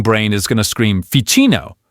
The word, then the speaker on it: Ficino: is going to scream Ficino, right? But nope, you know the rule now. That ch is a trap. It's actually a hard K sound, so it's Ficino. Hear that? That sharp, clear K sound.